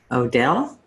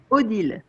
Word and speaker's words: Odile: How do you say it? Odile. Oodle. I'm No. really, really bad at stuff like this. It's French. So.